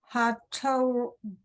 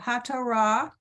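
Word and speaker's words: התורה: Hatoda. That's a resh. That's a resh. Okay, Hatorah, Yep.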